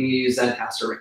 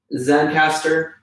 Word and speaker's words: Zencastr: Zencastr, online tool. Basically, it populates a link, and Zencastr is spelled Zencastr. There's no E.